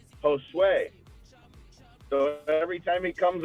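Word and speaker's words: José: grande's best friends is spelled j-o-s-e but he does not pronounce it jose he pronounce it josue so every time he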